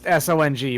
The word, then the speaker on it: Song: it's all very interesting are you saying sung or song uh i believe it's it's both it is s-o-n-g but i believe it's still pronounced song that's pretty neat i'm